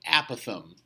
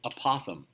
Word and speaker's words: apothem: Apparently, the correct pronunciation is the apothem. Okay? Although I will say that for years I was around people who said it apothem.